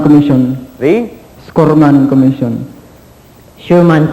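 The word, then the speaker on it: Schurman: The Scorman Commission. The? Scorman Commission. Sherman Commission. All right, that's the way to say it. Sherman Commission. S-C-H-U-R-M-A-N. All right, we said that phonetically.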